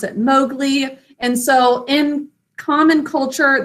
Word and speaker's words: Mowgli: Say it with me, Mowgli, 2 syllables. First syllable, ow, 2 sounds, using ow, cow in the snow.